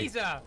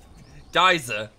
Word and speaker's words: geyser: Geezer. It's a geyser. He could have gone to the correct school and pronounced it geezer.